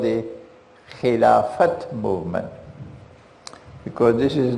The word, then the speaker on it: Khilafat: a movement called the Khilafat boom because this is not the Arabic word Khilafah this is the older word Filofax it's good pronounce the T so they called it the Khilafat movement meaning when the